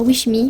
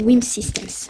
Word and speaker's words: Wim Systems: J'inverse tout le temps en fait, j'ai tout le temps Wish Me, mais non, c'est Wim Systems.